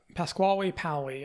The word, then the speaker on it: Pasquale Paoli: Now, at a younger age, the Corsican leader, Pascal how do you pronounce this name, Jay? Pasquale Paoli is one I've heard.